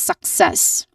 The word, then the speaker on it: success: All in all this is success.